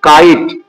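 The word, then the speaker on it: kite: এটা পড়তে হবে কাইট, KIT, কাইট, এখানে এটা পড়া যাবে না।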